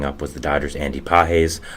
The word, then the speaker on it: Pages: was the Dodgers Andy peses I did pronounce it Pages um which was completely my fault I did not know as peses but I do know